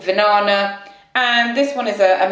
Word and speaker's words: Vinana: And the other one's Vinana, which rhymes with banana, as my mum said.